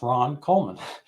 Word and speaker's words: Ron Coleman: honored to have with me Ron Coleman it's pronounced Ron Coleman uh he's an attorney very bright Guy and